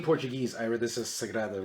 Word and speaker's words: Sagrada: I can't count the amount of people that have said sangria, which I love sangrias Sangria's as great. well, but not the name of the game.